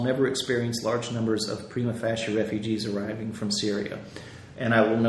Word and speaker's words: prima facie: This can result in large groups being declared prima facie refugees, and I may have mispronounced that. It's F-A-C-I-E. Because prima facie?